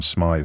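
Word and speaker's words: Smyth: SMI or John Smith it's spelled with a y a couple one of one of you telling me to pronounce it as Smith but I've heard everyone else pronouncing it as SMI all morning um I have some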